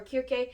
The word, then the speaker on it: Circe: on reading cersei or kirke okay here's the deal you guys i'm saying cersei i think the original pronunciation is kirke so i'm probably gonna say circe and kierke all the time don't judge me